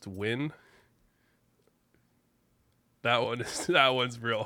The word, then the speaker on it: Nguyen: bit listen okay the fact that Nguyen is pronounced to win that one that one's real hard so I